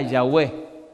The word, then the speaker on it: Yahweh: En realidad, cuando usted mira el nombre Jehová, solo encuentra 4 consonantes que no se pueden pronunciar. JHWH. Los judíos le pusieron una A y una E y diría Yahweh. Y los masoretas le pusieron una E, una O y una A que dice Jehová. Cuando los judíos llegaban a